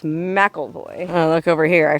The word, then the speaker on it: McElvoy: of Mikel mcelhoy Canyon keep wanting to pronounce it McElroy but it's mackleboy oh look over here